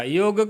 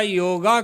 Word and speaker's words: योग: लेकिन कह क्या दिया योग का योगा कर दिया अंग्रेजों से योग कहते बनता नहीं है योग उच्चारण नहीं होता उनसे योगा कर दिया योग और व्यायाम एक्सरसाइज